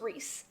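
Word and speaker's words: Rhys: I know that R-H-Y-S, when it's shortened, becomes Reese.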